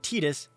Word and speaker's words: Tidus: now yunna doesn't know i pronounce it titus that is the canonical pronunciation now titus while titus